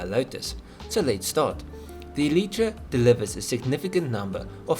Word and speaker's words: Eletre: i'm saying it wrong lotus's own website says it's elytra and not elitra or whatever yeah so don't that